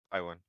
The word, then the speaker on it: Tywin: Tywin? Or is it T-Win? Or I don't know. Tywin. It's. Tywin. Okay. Have you seen Game of Thrones? Yes. Nice. Oh Tywin yeah, Lannister. that one. That guy. Tywin Lannister.